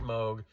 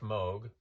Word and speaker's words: Moog: Basically, in Germany, his last name is pronounced Moog. In Great Britain and other English-speaking countries, it's pronounced Moog, because in English-speaking countries, you see the two O's and you assume it's pronounced Moog, and that's my defense,